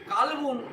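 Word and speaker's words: قلب: মানে আমরা অন্তর জানি কলবগুন মানে অন্তর আবার কালবুন একটুখানি পার্থক্য হয়ে গেল মানে কুকুর হয়ে যায় তাহলে কলবুন আর কালবুন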